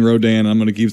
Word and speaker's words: Rodan: Now I know it's pronounced Rodan. I don't care for the rest of the review or whatever. We're going to say Rodan because that's just how it's going to be.